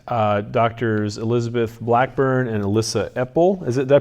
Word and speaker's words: Epel: Doctors Elizabeth Blackburn and Elissa Epel. Did I pronounce that right?